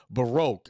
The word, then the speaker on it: Baroque: what's the name of the classic music again Baroque I think that's spelled b a r o q u e